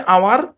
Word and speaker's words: our: এর অর্থ, উচ্চারণ হচ্ছে আওয়ার।